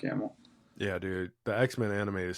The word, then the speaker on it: Hamill: there like my story uh Mark uh Hamill yeah Hamel I almost didn't say his name because I was like I want to mess that up but it's Mark Hamill yeah dude the X-Men